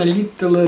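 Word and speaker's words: Литтелл: «Ударение на «э», – сказал Петров. Литтл. Он хотя с английской фамилией, но француз. Поэтому надо говорить Литтл.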